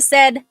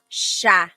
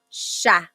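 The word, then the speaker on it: siya: But the s i y combination that makes a sh sound. So, sha sha.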